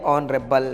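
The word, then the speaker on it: honourable: Word लिखा हुआ है इसको रीड किया जाता है ऑनरेबल, मतलब इसको आपको आ से पढ़ना है। इसमें जो एच है एच साइलेंट है।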